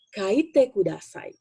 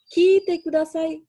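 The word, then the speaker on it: 書いてください: Bahasa Jepangnya adalah kaite kudasai. Kaite kudasai. Jangan lupa, jangan ketukar. Yang tadi dengarkanlah adalah kite kudasai. Menulis kaite kudasai.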